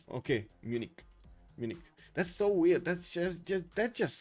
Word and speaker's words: Munich: Like that, Justice, like just a hard K at the end when you want to pronounce it in English. Okay, Munich.